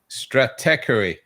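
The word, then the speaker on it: Stratechery: It's interesting uh how you pronounce the the the name of the publication. Steve Gilmore has trouble with it as well, but it's stratey. Strateery. Strateery rather than Yeah.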